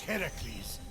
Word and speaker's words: Heracles: phoenix after boldly besting the gorgon that ambush heracles what are you doing there that thing with